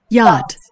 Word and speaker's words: yacht: A처럼 생겼는데 아에 짧은 짝대기 붙이면 야가 되는 거죠. Yacht.